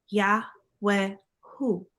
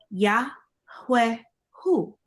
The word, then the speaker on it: Yahweh Hu: The name YHWH, Yahweh, should be spelled Yahweh Hu. The first H sound following Yah should be clearly pronounced, as should the last H in Hu.